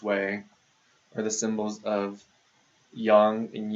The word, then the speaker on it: yang: we'll read this as Yang and this is Yin and say yin and yang yin and yang are a little bit closer to the Chinese pronun um pronunciation of it now yin and yang